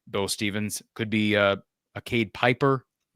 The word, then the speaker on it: Pieper: Could be Cade Piper. Could be Cade Pieper, I guess is technically the way you pronounce his last name.